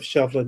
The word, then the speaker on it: Shovlin: Shovlin. Shovlin is Gaelic. It's spelled, anglicized form is Shovlin, but in original Irish, it's Seibhlein, which means one who is swift.